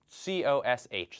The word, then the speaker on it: cosh: So the notation here, we write COSH, so the H for hyperbolic, so hyperbolic cosine, and usually we pronounce this cosh.